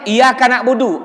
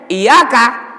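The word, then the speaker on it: إِيَّاكَ: Pak bisa murtad Hai kalau kita aja iyakanakbudu artinya aku menyembah matahari Hai kalau kita tekan Iya karena lucu Ya Allah hanya padamu kami menyembah kalau enggak ditekan bukan Iya Tapi bacanya iyakah iyakah nabudu waiyyaaka nastaiin dari tekan artinya aku menyembah matahari naudzubillah murtad jadi tekan Bay kasih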